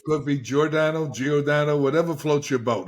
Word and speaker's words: Giordano: I said it right first it's could be jordano geodo whatever floats your boat it's okay how would you pronounce it uh Dr geordano okay perfect so welcome to the podcast I